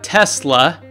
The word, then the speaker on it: Tesla: Okay, well, there's also Tesla Motors that was co-founded by Elon Musk. Who else? And this is where I get my pronunciation. He says it the way I say it, with the Z sound.